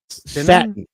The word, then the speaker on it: Satnin: That's how he pronounced it. Satnin. Satin.